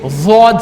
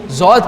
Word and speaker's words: ضاد: میرے استاد نے مجھے ضاد سکھایا تھا جو کہ دال اور زائی کے درمیان کا ایک تلفظ ہے, لیکن اگر آپ کو کہیں کوئی ضاد کہتا ہوا سنائی دے